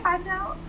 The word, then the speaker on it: Vitelle: And he sat down in front of me and was just like, "Hey, Vitelle," and I'm looking like, he said he pronounced the name right and everything.